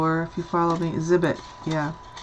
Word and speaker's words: Zibbet: If you follow me, Zibbet, yeah. Zibbet, Z-I-B-B-E-T.